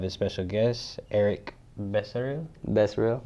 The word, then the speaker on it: Becerril: Becerril. Did I pronounce that right? I got the good pronunciation? You have the Espanol pronunciation.